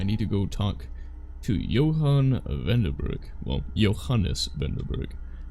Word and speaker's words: Johannes: Because he pronounces the S, which feels weird. I've met Johannes, and then there's also the old Germanic story of faithful Johann. No one pronounces the S. No one does.